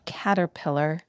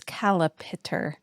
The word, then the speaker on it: caterpillar: But I do know as a child, I mispronounced the word caterpillar. I thought it was calipitter.